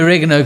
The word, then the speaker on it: oregano: Emphasis on the rig or rig.